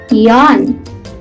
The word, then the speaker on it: yawn: In English, we call this yawn, yawn, yawn. It is silent W.